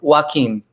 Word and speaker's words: Joaquim: let me ask you it's joaquim joaquin phoenix yeah heck of an